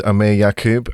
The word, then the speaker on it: Aamir Yakub: the way through it um my name is Amir yakub and rock you pronounce my name perfectly thank you uh I